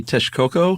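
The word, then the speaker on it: Texcoco: uh what is it tashoko I think probably Tesh Coco Tesh Coco thank you so lake tashkoko is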